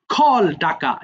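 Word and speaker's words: called: খল, খল্ড, এই এটা না অনেকে ভুল করে খলেট বলে ফেলে।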